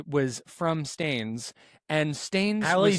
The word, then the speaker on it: Staines: Spelled like stains? With an E at the end. Staines.